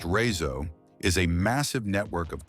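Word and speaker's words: RÉSO: The Razo, pronounced Razo, is a massive network of climate controlled tunnels,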